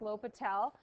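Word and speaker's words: L'Hôpital: it's spelt it's pronounced lo Patel it's a silent s uses derivatives to value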